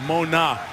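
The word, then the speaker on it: Mauga: But waiting for him was Josh Mona, the linebacker, who's now on the third different pronunciation of his name. Out of Nevada, he said Mona is now how he wants it pronounced.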